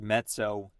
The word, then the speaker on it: mezzo: two Z's and Pia so it gets more of a TS sound so met so next we have met